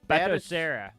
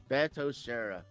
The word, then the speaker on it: Batocera: Well, how is it pronounced again, Aaron? Batocera. Batocera.